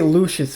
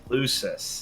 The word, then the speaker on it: Lucius: uh and the uh i always want to say lucious what's the name lucius who's this that you're saying it right you're just giving it an sh this is right uh